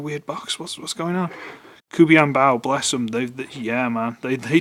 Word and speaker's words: KuBianBao: But it's KuBianBao, which seemed to be the creme de la creme, grade A of knockoffs.